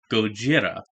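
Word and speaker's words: Gojira: to speak right now but it's pronounced goira I like Godzilla Godzilla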